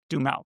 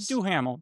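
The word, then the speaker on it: Duhamel: But one of the biggest like the main character is Josh Duml, right? not D Ham, even though it's spelled that way, but DL.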